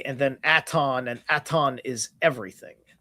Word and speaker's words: Aton: atu at uh aton is T I believe it's a T O N. Okay. Aton aton like atonism.